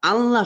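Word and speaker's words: الله: জবর কিংবা পেশ দেখেন, যদি যদি আল্লাহ শব্দের ডাইনে বা পূর্বে আপনারা যায় বলেন যা, বা আগে যদি আপনারা জবর বা পেশ দেখেন, তাহলে এই আল্লাহ শব্দটা মানে মোটা করে, মানে মুখটা গোল মুখটা গোল করে মুখটা ভরে উচ্চারণ হবে, যেমন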